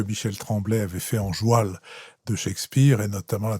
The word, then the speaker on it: joual: On dit joual parce que c'était la prononciation, pardon, de cheval.